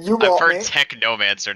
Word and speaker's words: Technomancer: Technomancer, not Techromancer.